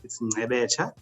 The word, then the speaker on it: Ngcebetsha: Yeah, so my name is Ngcebetsha. So it's a Nguni surname, of Xhosa origin in South Africa. So it's Ngcebetsha.